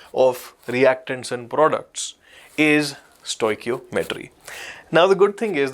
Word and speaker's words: stoichiometry: This is the pronunciation, stoichiometry.